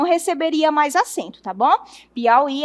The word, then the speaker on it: Piauí: Veja que o i está na oxítona, é a última sílaba forte, então ele continua com